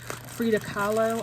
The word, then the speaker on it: Frida Kahlo: and where did she get the frida pictures frida kahlo i believe is how you pronounce her name and artist um look at